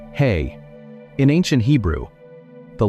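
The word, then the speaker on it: ה: The letter is he pronounced hey.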